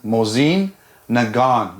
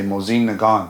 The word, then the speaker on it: Mosin Nagant: Mosine Nagon. You don't say the T and you say Mosine Nagon.